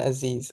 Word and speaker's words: Aziz: people's pronunciation so please tell us how you pronounce your own name aiz Aziz okay that's good to know so tell